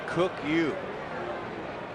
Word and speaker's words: Ryu: Jae Weong. That's an interesting pronunciation. I don't know how you get it out of that, but the R is silent.